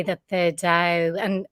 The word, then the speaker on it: Tao: to say that the dao and it's usually written actually like tao but it's pronounced like a d d um so sometimes